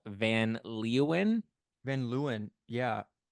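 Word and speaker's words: Van Leeuwen: ice cream brand called Van leuan van Luan yeah it's van Luan but they have an extra e in there what for the fun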